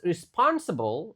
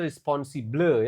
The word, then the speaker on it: responsible: I was responsible. Ah, ini bukan responsible ya. Cara bacanya responsible. Lagi-lagi O-nya enggak dibaca O.